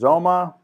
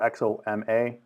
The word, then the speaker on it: Xoma: some other ones is Zoma or xoma is you pronounce it and this is another